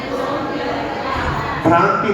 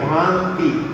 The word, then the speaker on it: भांति: भ्रांति नहीं है, भांति। भ्रांति लोगों का उच्चारण रहेगा, भांति है।